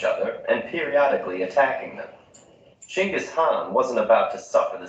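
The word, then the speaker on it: Chinggis Khan: versus genghis khan your honor is familiar with genghis khan the 13th century warlord whose military campaigns killed millions and left nothing but destruction in their wake objection first of all it's pronounced chingus han really in mongolia yes regardless he was one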